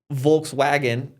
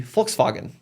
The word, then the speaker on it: Volkswagen: yeah he says yeah so in German a v can be could be like kind of a the W is a v so so it's not W it's not wolburg it's vburg right it's not Volkswagen it would be FKS Fagen right right or yeah so